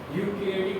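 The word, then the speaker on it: eukaryotic: यूकैरियोटिक भी बोलते हैं, कुछ लोग ई भी बोलते हैं, बट ई हमारे यहाँ पे साइलेंट होता है, तो इसको क्या बोलते हैं, यूकैरियोटिक सेल।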